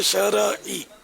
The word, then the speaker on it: شرعی: ہمارے شرعی تلفظ شرعی ہے, شرعی, یہ اہل علم بھی بول رہے ہوتے شرعی. را پر زبر نہیں ہے, را ساکن ہے, اس پہ جزم ہے.